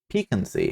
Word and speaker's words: piquancy: How to pronounce Piquancy. And let's see, did I completely mangle it? Piquancy, apparently.